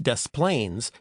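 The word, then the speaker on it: Des Plaines: And that's a silent s in Illinois. Same with De Moine, which is in Iowa, but not the same with Dust Plains, which is in Illinois. It has noisy s's.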